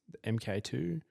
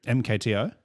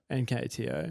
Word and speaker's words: MKTO: Uh, I don't know how to pronounce MK2. MKTO. MKTO.